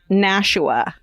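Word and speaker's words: Nashua: Uh, New Hampshire town is pronounced Nasha, not Nasha County or NA.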